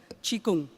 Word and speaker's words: Qigong: So if you look at this Harvard Health publication, Qigong, pronounced Qi, also in the West it's called, several people call it Chi Gung.